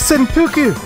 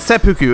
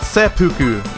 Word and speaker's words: seppuku: he did a reverse senpuku or wait seppuku it's not senpuku i've been saying it wrong for so many months so many years it's called sepuku not senpuku [ __